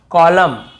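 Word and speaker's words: column: जैसे autumn कॉलम डैम हाईम तो यहां पे हमें ऐसे ऑटम कॉलम डैमन ऐसे हाईमन ऐसे नहीं पढ़ना है।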